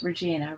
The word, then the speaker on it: Regina: he said her name correctly pronouncing it regina rather than like the canadian city never failed to send